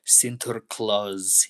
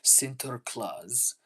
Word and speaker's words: Sinterklaas: Am I Am I saying it right? Sinterklaas events. Here, hold on. I didn't say it right. Let me try again. Sinterklaas events. There, much better. Much much better.